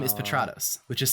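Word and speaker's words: Petratos: my demo reels there my last name is patrados which is spelled pet rat os um so that that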